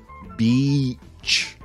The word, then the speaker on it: beach: Be careful with that vowel sound. It's sheet. Beach. 2 of the most commonly mispronounced words that cause embarrassment.